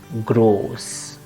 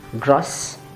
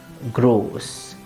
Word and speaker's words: groß: is the Sset, so the O should be pronounced long and the pronunciation is gross. It's not gross, it's not gross, it is gross.